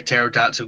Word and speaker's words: pterodactyl: Why can't you hear a pterodactyl go to the toilet? Oh, I know this one. The P is silent.